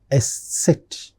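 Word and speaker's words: Eszett: And the last final special character is it's a combination of S and S together. So that's why it's called as S set.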